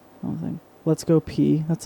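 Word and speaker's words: Peay: Let's Go P. That's like their thing. Is that their actual thing? That's their thing, yeah. It's like Let's Go P. Because it's spelled like P-E-A-Y.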